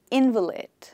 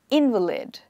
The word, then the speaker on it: invalid: on the first syllable the next sentence that we have the insurance was in invalid for the invalid i'll repeat the insurance was invalid for the invalid so here i stress on the syllable in the middle invalid so invalid is